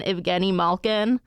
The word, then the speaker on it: Evgeni Malkin: Have they had a worse week than Evgeni Malkin? Look at you, Sophia. You pronounced it correctly.